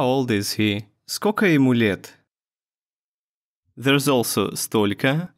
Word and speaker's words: скока: Сколько becomes скока. And since the last O sounds like A anyway, we spell it like this.